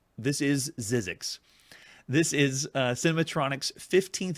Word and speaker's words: Zzyzzyxx: right whatever print it but it's it's obviously pronounced zizzi X this is zizzi X this is uh cinematronics 15th video game we've